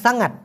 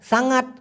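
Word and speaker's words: sangat: হবে খুব টক এজন্য দেওয়া হবে সাঙ্গাট অর্থাৎ সাঙ্গাত মাসাম মানে হলো খুব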